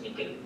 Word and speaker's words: N1QL: So it uses non-formal first, the query language, which is N1QL, pronounced as Nickel query language for the queries.